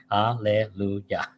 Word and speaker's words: Alleluia: Alleluia, 3 syllables. Alleluia. So you write Alleluia. Well, no, 4 syllables, right? Alleluia. Right?